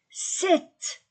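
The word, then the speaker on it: sept: 1 5 6 6 7 je ne prononce pas le P 7 8 oui 8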